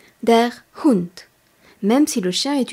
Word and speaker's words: Hund: a T Z e di Cats le mot Hund le chien est masculin der Hund h u n d der Hunt même si le chien est une chienne révisons